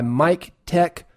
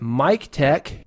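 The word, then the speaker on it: MikTek: We are brought to you today by Mic Tech Audio.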